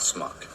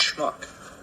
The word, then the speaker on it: schmuck: Schmuck I was. Schmuck. It's not smuck. It's schmuck. Smuck. Schmuck. Smuck. Now say shh. Shh. Now say muck. Muck. Now say shh and muck together real fast.